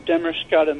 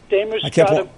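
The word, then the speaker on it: Damariscotta: I'm in Demerscata, Maine. It took me a long time to learn how to pronounce that. Demerscata, I didn't realize it was Bangor. I'm in Demerscata, Maine, Paul.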